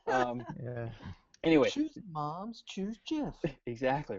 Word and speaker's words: GIF: I just found out that's pronounced GIF, by the way, by the creator. Yeah. It is. It's GIF. Yeah. I thought it It's was GIF.